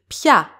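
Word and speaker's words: πια: The same happens with pia, which means anymore. Iota and alpha are pronounced together, so they are considered one syllable and they don't get an accent.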